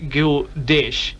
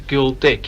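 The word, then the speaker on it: Gyldish: and reminded me that it's you pronounced Gill dish not a ghoul dick yes I realize that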